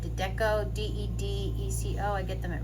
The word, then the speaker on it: Dedeco: All right, so I'm just going to hit this thing with these Dedeco, I think that's how you say it, Dedeco, D-E-D-E-C-O.